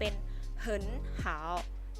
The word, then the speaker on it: 你好: คือ ดี แต่ ว่า ออก เสียง กด วรรณยุกต์ เสียง ที่ 3 2 ตัว นี้ เนี่ย อยู่ ติด กัน เพราะ ฉะนั้น ตัว แรก จะ ต้อง ออก เสียง เป็น เสียง วรรณยุกต์ ที่ สอง คำ นี้ จึง เป็น เหิน หาว เหิน หาว นะ คะ อีก ตัว อย่าง